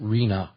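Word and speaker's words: RHNA: That's they pronounce it Reena.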